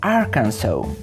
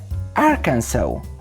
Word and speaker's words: Arkansas: wymowa jest tutaj karalna Gdybyśmy chcieli przeczytać ją po polsku brzmiałaby Arkas ale nie może być tak łatwo Prawidłowa nazwa tego stanu to arkansaw celu repeat please powtórzcie arkansaw teraz możecie być pewni